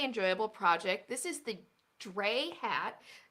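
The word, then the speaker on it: Drei: This is the Dre hat. That's spelled D-R-E-I, Dre hat by Ecomcrew Designs, and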